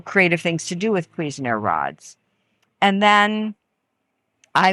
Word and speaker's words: Cuisenaire: Another manipulative would be Cuisenaire rods. And it's spelled c u i s e n a i r e.